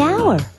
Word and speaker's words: hour: owner the animal the hour way h is not a vowel sound it's a consonant sound but it's not the first sound the h is silent the hour but what